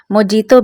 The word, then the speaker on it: mojito: is called Watermelon Mojito, it is also called Mojito, but its effect is Pronounced as Mohito, so let's come and see this recipe .